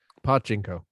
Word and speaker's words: pachinko: pachinko. Yeah, because if you want to stress the first or the last sounds, you don't want to stress the middle one, because in Japanese that sounds dirty.